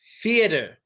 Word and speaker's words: theater: Theater. No F. It's a TH. Theater. And it's a DR. Theater. Theater. You can say T if you want, but we usually say theater.